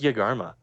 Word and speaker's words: Yegarma: Uh, yeah, that's Yagarma. That's spelled Y E G A R M A.